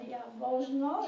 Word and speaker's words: Jaworzno: It was called Jaworzno. If you look at the center of the map, it's spelled with a J-A-W.